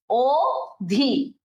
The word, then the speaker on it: অধি: অনু, অব, অধি, অতি, এই যে আমরা এটা হচ্ছে এরকম লিখি অধি, বাট এটা উচ্চারণ কিন্তু ও দিয়ে হবে, ও ধি, ওকে।